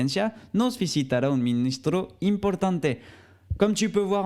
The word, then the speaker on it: importante: on ne prononce pas le final mais on prononce le thé importante impor tante il est assez doux le thé mais on